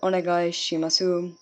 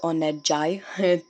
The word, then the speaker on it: onegaishimasu: thanks moving on to number four we have onegaishimasu meaning please so again let's do the syllable by syllable or nagai shimasu meaning please